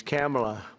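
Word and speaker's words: Kamla: He said, "No, sir, it's a little different. It's Cam, right? Cam as opposed to Com."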